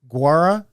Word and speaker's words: Gaura: Guara Gaura. Did I get say that guara, right?